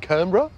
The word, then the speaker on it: Canberra: So I suspect she said Canberra, and Canberra it has become with two syllables.